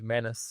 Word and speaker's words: Manus: the next thing is also named Manus and rhy rhymes with anus so anyway yes I